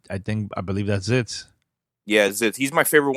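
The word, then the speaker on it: Zitz: the most I think no no not Ritz not it's not Ritz zits zits oh my God getting everybody's name wrong yeah yeah it's zits so it's rash zits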